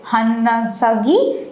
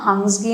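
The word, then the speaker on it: Hunsgi: এটার আরেকটা নাম হচ্ছে হান্নাসাগি, যেটাকে মানে অনেক সময় এই নামেও বলা হয়, বাট এটার অ্যাকচুয়াল উচ্চারণ, অ্যাকচুয়াল নাম হাংসগি আমরা বলে থাকি।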